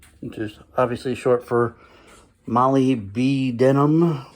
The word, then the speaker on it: molybdenum: Molly, which is obviously short for Molly B denim, which is how I pronounce it. I know it's molybdenum or something like that.